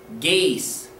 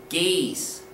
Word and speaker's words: gees: The correct pronunciation is gees, gees, gees.